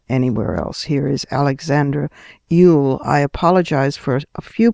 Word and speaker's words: Eul: My next guest, Alexandra Eul, that's spelled E-U-L, is a German journalist working with